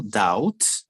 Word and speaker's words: doubt: independently in Africa careful doubts the B is silent doubt do you know